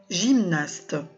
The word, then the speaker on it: gymnaste: Alors, la belle fille qui fait de la gymnastique, on l'appelle gymnaste. Alors, G suivi d'un Y se prononce bien sûr je.